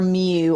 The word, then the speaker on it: mu: tail on it is the Greek letter mu, or mu. I've heard it pronounced both ways.